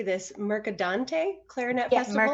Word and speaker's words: Mercadante: She was a soloist at the, you'll have to tell me how to say this, Mercadante Clarinet Festival? Mercadante, yeah.